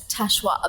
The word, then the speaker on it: Tachoir: So Tachoir. Tachoir, the snooty French pronunciation.